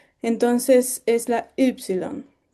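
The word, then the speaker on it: ύψιλον: para ser más precisos, se pronuncia como una u francesa, como si quisiéramos pronunciar i, pero pusiéramos nuestros labios como para decir u. Entonces es la yilon.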